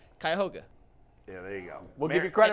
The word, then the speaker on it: Cuyahoga: But it's Cuyahoga. Yeah, there you go. We'll give you credit for that. Anthony says Cuyahoga, and he's wrong now. It's Cuyahoga.